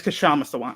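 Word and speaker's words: Kshama Sawant: So is it Kashant or Kashama? I'm sorry. Let me get the pronunciation. Let me get the pronunciation right. I got you. Oh, yeah, it's Kashama Sawant.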